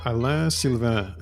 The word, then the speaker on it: Alain Sylvain: my name is uh Alan silv is how you say it in French and I work for